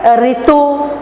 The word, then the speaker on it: ऋतु: हिंदी में रू नहीं होता है, री होता है। तो आप ऋतु को कैसे करेंगे? ऋतु, ऋषि, सृष्टि, इसी तरह हम री उच्चारण करेंगे।